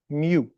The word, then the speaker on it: mu: and then write a U. Please don't just call this U. It's the Greek letter mu. It's their version of M.